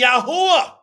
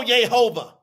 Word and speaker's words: YAHUAH: It's going to be YAHUAH. Put some money on it. Quit talking. It ain't going to be no Yehovah.